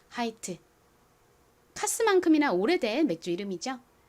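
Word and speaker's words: Hite: 가장 앞에 H는 히 소리 나고요. 그리고이 단어의 모음이 I와 E 두 개 있죠. 끝 모음이 2이니까 첫 번째 모음은 보통 장모음 소리로 소리가 납니다. I의 장모음 소리는 알파벳 이름과 똑같은 아이죠. 그래서 하이가 됐고요. t는 t의 소리 트 소리가 나죠. 끝에 e는 헛깨비로 소리가 나지 않으니까 읽어 보면 하이트가 됩니다.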